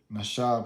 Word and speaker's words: Nasha: Nasha, pronounced Nasha, a primitive root, to lead astray, an example, mentally, to delude or morally, to seduce, beguile, deceive, X greatly, X utterly.